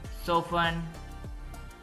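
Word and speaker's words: soften: party party फसन बांधना सो फन इसमें T silent है सो फन नरम करना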